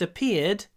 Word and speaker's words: appeared: The virus first appeared in China. It appeared. Появился. Appeared. Appeared. И здесь вот этот звук произносится и двойной. Appeared. Appeared. Два звука.